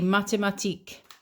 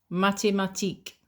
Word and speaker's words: mathématiques: la philosophie philosophy J'étudie les mathématiques. mathématiques There's the accent again. You don't pronounce the S at the end, okay? les mathématiques And just to finish